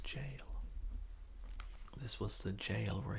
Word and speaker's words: Gaol: It's the old English form, but it's still pronounced jail.